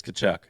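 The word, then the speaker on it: Tkachuk: So, here's a Brady uh Katchuk. I don't think you pronounce the T in that, right? It's Kachchuck.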